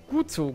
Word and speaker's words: Guzzo: Sein Nachname wird hier ausgesprochen wie das TZ in Katze. Das hat er tatsächlich so gesagt, ja? Wie das Katze, das TZ im German Katze.